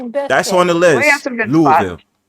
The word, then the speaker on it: Louisville: Louisville. Yeah. Louisville. Louisville. Just say Louisville. Louisville. Louisville. Louisville. There you go. Not Louisville. Not Louisville. Not Loisville. Louisville.